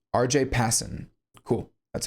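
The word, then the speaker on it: Pasin: Um, pronuniation, Passen. R.J. Passen.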